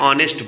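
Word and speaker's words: honest: means होता है ईमानदार यहां भी एच है एच क्या है साइलेंट है इसका जब उच्चारण किया जा रहा है तो ओ वावेल साउंड से उच्चारण इसका प्रोनंसिएशन शुरू हो रहा है तो इसलिए जबकि ओ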